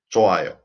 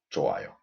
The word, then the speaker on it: 좋아요: 좋아요, so 좋아요, 좋아요. When 받침 흐 meets circle, 흐 is omitted because 흐 is the weakest consonant.